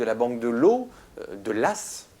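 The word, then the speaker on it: Law: la faillite de la banque de l'eau de l'ASS prononce ça s'écrit l'au comme la loi ça se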